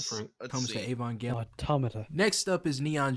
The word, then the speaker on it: Evangelion: main appeal for me when it comes to Evangelion is the dark and depressing nature of the show.